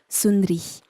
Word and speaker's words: Sund'Ri: Donc on a enlevé le A pour que ça se prononce Sundri ou Sundri.